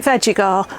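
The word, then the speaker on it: Vegega: I spoke to the lady concerned and she said it's pronounced veggie for vegetables and gar for garden. So I'm calling it veggar.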